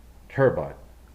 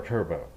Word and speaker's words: Turbot: A first look at the Radiolink D460 Turbot or Turbot. English pronunciation is turbot. French pronunciation is turbot, and it means flat fish.